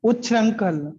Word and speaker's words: उच्छृंखल: ये पढ़ो, ये क्या लिखा है, इसको कैसे प्रोनाउंस करेंगे? उच्छल, उच्छल, उच्छल, उच्छृंखल, उच्छृंखल, उच्छृंखल ऐसा बोल सकते हैं।